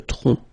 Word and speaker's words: tronc: Le tronc, okay, remember, final C is not pronounced here. Le tronc, okay?